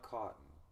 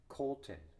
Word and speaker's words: Colton: I think I've heard her pronounce it's not cotton. It would be Colton.